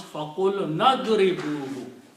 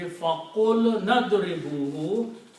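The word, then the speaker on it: فقلنا اضربوه: When you read together, you pronounce faqul nadribuhu. Okay. When you combine the words together, the pronunciation will be faqul nadribuhu.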